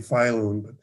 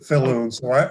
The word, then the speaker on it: Falloon: I pronounce my name Filoon, but Right. everybody else calls it Filoon.